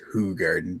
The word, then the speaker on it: Hoegaarden: history of Hoegaarden Hoegaarden it's particularly pronounced Hoegaarden but I prefer how yeah I know yeah